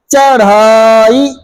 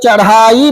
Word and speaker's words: चढ़ाई: आपको सही करना है चढ़ाई जब चढ़ाई बोलोगे तभी ढ लिखोगे अगर चढाई कह दोगे तो उसमें डलिया लगा दोगे और गलत हो जाएगा करई डकन का उच्चारण